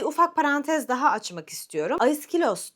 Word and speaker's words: Aiskhylos: Aiskilos diyorum ismine. Fakat esilos diyenler de çok fazla. Esilos aslında bu kelimenin İngilizceye biraz daha benzer ve İngilizcede daha kolay telaffuz edilen hali. Oysa Yunanlılar daha çok aiskilosa, bu söylediğime benzer bir şekilde telaffuz ediyorlar.